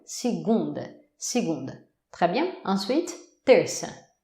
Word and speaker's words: segunda: Alors, on va commencer avec lundi, segunda. Segunda. Et oui, la syllabe forte est l'avant-dernière, ce qui fait qu'on entend pratiquement par la fin du mot. Segunda.